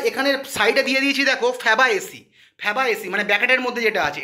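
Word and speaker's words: Fabaceae: তাহলে যদি পরীক্ষায় তোমরা পড়ে গেছো যে দাদা প্রশ্নটা দিয়েছিল মিমোসইডি, ওখানে অপশানে গিয়ে আর মিমোসইডি পাচ্ছ না, ফ্যাবাসেসি পেয়েছো, ঠিক আছে, ফ্যাবাএসি পেয়েছো, সরি ভুল বললাম প্রোনাউন্সিয়েশনটা।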